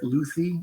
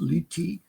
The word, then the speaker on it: Luthi: on okay well uh my name is luy or it's pronounced liy if you go back to the old country U but in America most people I you know know best I can get is Luffy so that's what I've